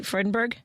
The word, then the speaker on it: Freudenberg: Am I saying it correctly? Freudenberg? Yes.